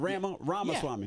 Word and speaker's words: Ramaswamy: Yeah, it's like Ramaswamy, like CD-ROM, but yeah. What I said, Ramaswamy. Yeah, you got it. though. It's Ramaswamy.